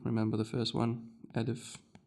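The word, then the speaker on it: ألف: Alif. You pronounce it as a because the first sound you hear when I say alif, you hear a.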